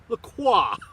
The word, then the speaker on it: Lacroix: Croix the choir or the pleurer you know I learned how to say it right dummy so here it goes guys lacroix all right writing my